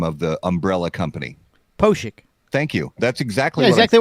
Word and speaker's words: Pospiech: is the brand name of the umbrella company posik thank you that's exactly exactly what you said